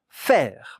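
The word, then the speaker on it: faire: F A I R E. In French, F A E. The two letters here make the sound E.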